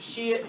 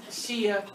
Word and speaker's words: Shia: So with this one, you'll want to write Islam splits, and that's Shia, you can pronounce it Shia, Shiite, Shia, doesn't matter.